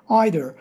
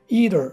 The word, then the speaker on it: either: kelimemiz daha var either bu sözcüğü İngilizler ve Amerikalılar sırasıyla either either şeklinde telaffuz edebiliyor bununla da örnek cümleler